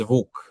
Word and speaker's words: Vuk: Like can you tell me how do you pronounce your name? It is it is Vuk.